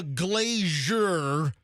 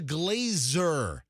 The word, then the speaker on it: Glazer: It's not jer. It's zer. Wow. Which it drives me freaking nuts. Yeah, I know. I mean, one day I wanted to burn somebody's house down because they mispronounced the guy's name. They didn't make it sound like the donut. All right. It's not the Glazier Children's Museum in downtown Tampa. It's the It's the Glazer.